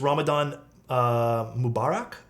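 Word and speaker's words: Ramadan Mubarak: gonna mess this up so bad but it's Ramadan uh Mubarak am I pronouncing that right because it's it's uh it's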